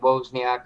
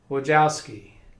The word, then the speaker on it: Wojcicki: Isn't it like Wozniak or something? Wojcicki.